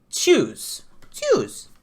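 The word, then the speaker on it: Tschüss: So it's TSCHU with an umlaut, with the two little dots on it, SS, and it's pronounced shoes with it. So it's choose.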